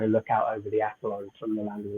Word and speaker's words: Acheron: Did I pronounce it right, Tommy? I think so, yeah, Acheron. Yeah, I mean, some people pronounce it Acheron. I think it's one of those words that's so old that no one really even knows how to pronounce it anyway.